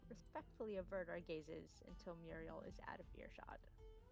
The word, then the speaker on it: Muriel: with leather for some reason I have trouble pronouncing Muriel's name Muriel I did not make it easy on you